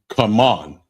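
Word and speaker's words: כמון: Cumin, and it's pronounced come on.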